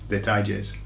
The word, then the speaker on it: detalles: Okay, so it's very similar to the word details, but the pronunciation, you've got to get a tie in the middle. So put a tie on it, okay? Detalles.